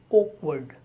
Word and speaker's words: awkward: O as in organize, ordinary, and then word, awkward. As you know, in the standard British variety of English, the sound r is not spoken unless it is followed by a vowel sound. So the word 13 is awkward.